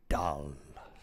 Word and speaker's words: dal: Dal. Spell it how you like, it's dal.